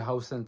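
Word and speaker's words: Huijsen: Maintenant je dis Hausen parce que je sais que c'est comme ça que ça se prononce.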